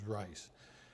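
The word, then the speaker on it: Reiss: Some people call him Rees, but I think the correct pronunciation is Rice.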